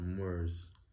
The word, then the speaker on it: Muur: Empire, known as the Moors. M-U-U-R. It's still Moor, but it's different pronunciation.